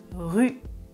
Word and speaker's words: rue: Ensuite, je prononce rue, rue, rue. La langue touche les dents.